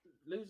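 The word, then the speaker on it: Lewes: did not yeah well L are quite famous for I think that's how you pronounce it it's l e w s yeah I vaguely recall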